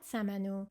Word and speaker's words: samanu: You've probably had samanu, which is part of the haftzin table. Let's break it down. Sa-ma-nu has three syllables.